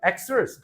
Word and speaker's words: Xers: 그래서 요 X세대들은 Xers라고 읽어. Xers, Generation Xers.